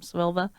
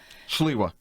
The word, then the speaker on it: Sliwa: How do you say his name? Silva? Sliwa. Curtis Sliwa.